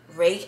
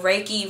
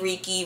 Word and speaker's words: reiki: i learned about uh rake i always say it wrong reiki reeky rape me i don't [